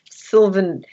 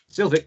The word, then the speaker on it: Sylvic: 5, it's totally up to you, but I'm not inclined to wander towards the Sylvan. Sylvic, you said it right the second time. Nick says it right the first time.